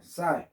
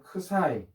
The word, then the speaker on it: psi: 오메가가 있고 그 다음에 사이 이제 옛날에는 선생님 때는 크사이 뭐 이렇게 PSI 해서 크사이로 배웠는데 지금은 이제 미국식 발음 그리스에서는 크사이라고 부르는 것 같은데 사이로 발음합시다. 학교마다 또 대학 교수님 뭐 발음하시겠죠.